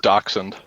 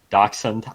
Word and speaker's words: dachshund: email on your video it's pronounced dachshund dachshund never pronounce wait I